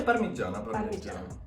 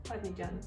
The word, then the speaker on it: parmigiana: I'm looking forward to Parmigiana. Do I pronounce it right? Yeah, Parmigiana. Parmigiana.